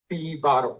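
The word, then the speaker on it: P1̄: In many books, it is taken -1, but it means that it is pronounced as bar 1, P bar 1.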